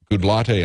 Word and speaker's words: Goodlatte: and the congressman is Bob goodlatte I think is how you pronounce his name from Virginia and what